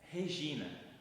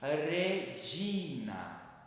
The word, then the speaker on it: Regina: Nós não falamos Regina, mas sim no latim redina, né? Com o DJ. Sempre quando nós tivermos o G seguido de alguma vogal i ou e, falaremos de ou de. Então, lembrem que quando nós falarmos redina, tem que lembrar desse de e não g, tá?